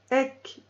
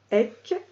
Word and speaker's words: Ek: Chantez la méditation Ek Onkar, qui signifie « Je ne fais qu'un